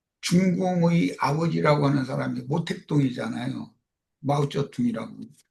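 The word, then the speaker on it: 毛泽东: 마오쩌둥이라고 중국 발음으로 그렇게 말해요.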